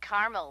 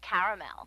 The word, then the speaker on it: caramel: it in Carmel actually you said Carmel when it's pronounced caramel can't we just call